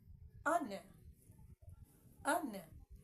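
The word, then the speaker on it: honour: how is it pronounced an un the H in h o n o u r is silent it is useless being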